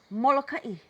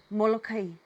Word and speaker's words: Molokaʻi: Next island, Molokaʻi. And some people pronounce it Molokai.